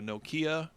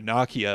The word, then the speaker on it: Nokia: I mean, I remember my flip phone, getting excited about going from a Nokia, or a Nokia, apparently it's I pronounced still love Nokia, flip phone.